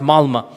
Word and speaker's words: Malmö: Malmö is is is spelled with an O, but it's pronounced Malmö.